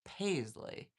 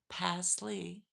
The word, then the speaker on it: Pasley: Ah, did I did I say Paisley? Passley. Craig Pasley. Is that right? Passley.